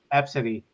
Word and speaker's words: Abcde: I saw another name that's spelled ABCDE, and it's pronounced Absidy.